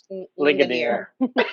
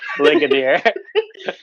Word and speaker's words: Ligonier: Is that the right pronunciation? Okay, Ligonier. you have to say that. Ligonier. Ligonier.